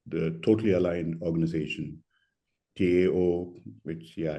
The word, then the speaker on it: Tao: the totally aligned organization Tao which yeah in Chinese it would be pronounced as Dao but very much similar